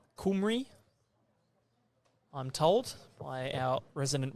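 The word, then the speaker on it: Cymru: first end so Wales with the Welsh pronunciation of the country on the back of their shirts there kumry I'm told by our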